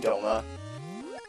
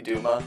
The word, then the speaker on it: Duma: still need to defeat DOMA or Duma his name is technically Duma the translation calls him Doma it's not like a